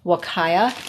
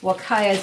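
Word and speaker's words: Huacaya: types of alpacas there is what they call wakaya it's spelled h-u-a c-a-y-a and then we also have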